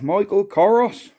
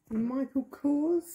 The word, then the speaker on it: Michael Kors: what have we got here Michael Michelle what Michael koros how do you pronounce that Michael Kors Michael Kors what have we got in here